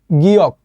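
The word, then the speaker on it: 기역: এটাও কোরিয়ান একটা বর্ণ এটা কোরিয়ার নাম হচ্ছে গিয়ক ঠিক আছে তো আপনার ওই গিয়ক নিউন এটা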